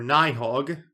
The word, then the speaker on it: Nidhogg: Interesting, because when I think of Nidhogg or Nihog, as you told me it's pronounced, I think of the beast that's gnawing at the roots of Yggdrasil.